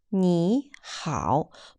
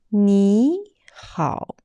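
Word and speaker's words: 你好: Everyone knows it's pronounced as 你好, but actually it is a wrong pronunciation. It's incorrect. When two third tones spelled together, the first third tone need to be changed to second tone, which would be 你好.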